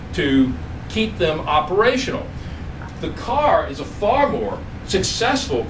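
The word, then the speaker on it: Kerr: which this is uh k r r r but pronounce the car uh they were imported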